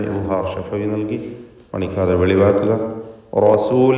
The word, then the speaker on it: رسول: ലക്കും റസൂൽ. ലക്കും എന്നതിൽ സാക്കിൻ തമീമിനെ ഇദ്ഹാർ ഷഫവി നൽകി മണിക്കാതെ വെളിവാക്കുക. റസൂൽ എന്നതിൽ റാഇന് തഫ്ഖീം കൊടുക്കുക. ലക്കും റസൂലുൻ റാഇ തടിപ്പിച്ച് ഉച്ചരിക്കണം എന്നർത്ഥം. റസൂലുൻ അമീൻ.